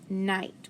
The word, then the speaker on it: night: time okay first word night what do you see trigraph i g h so remember it's a long i silent g silent h and then time i